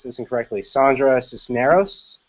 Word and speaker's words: Cisneros: Particularly, I'm thinking of correct me if I pronounce this incorrectly, Sandra Cisneros.